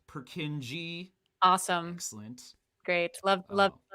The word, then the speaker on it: Purkinje: here's lynnea coming to the rescue it is pronounced purkinji awesome excellent great love love to see it